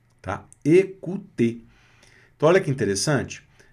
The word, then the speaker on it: écouter: A vogal E com acento agudo, som de E, fechado. O mais U, som de U. Terminação ER, som de E. Écouter.